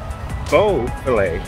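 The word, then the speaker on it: Boisfeuillet: my notes here this guava which i believe is french or at least it sounds french he himself preferred to pronounce it bo filet buffalo and he was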